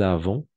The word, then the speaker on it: avons: Et ici, le S, à la fin, on ne prononce jamais. De la même façon ici, le Z, on ne prononce jamais. Nous avons, vous avez.